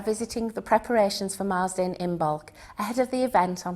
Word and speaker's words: Imbolc: organizer for imul well imul or imol as some people um pronounced it uh comes from